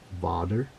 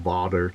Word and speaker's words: vader: it was Dutch and it's pronounced differently I think it's pronounced vder and I'm pretty sure I butchered that pronunciation and so I wanted